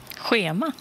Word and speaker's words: schema: Schema. Schema. Schema. Ici, on a moins le R de Ruk. On a juste le H ici. Hein. Schema. Schema. C'est un H.